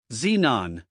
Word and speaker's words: xenon: the beginning of the word xylm xanthic Xerox Xenon zifo xylol xylophone zenth xeroderma used in the